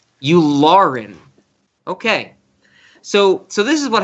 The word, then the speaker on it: Yularen: Zach, I'm going to ask you if I'm pronouncing this correctly. Admiral Yularen? Yularen.